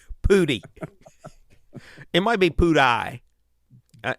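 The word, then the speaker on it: Pudi: should spell okay mountains it sounds like you're saying pooty but are you saying pooty i'm saying pooty it's p-u-d-i pooty it might be poo-dye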